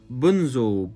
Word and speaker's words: Bunzl: Up next on this list is a company I haven't spoken about before, and that is Bunzl, B-U-N-Z-L.